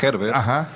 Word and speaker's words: Gerber: sí se dice así en digamos en español se dice Herber y pero en general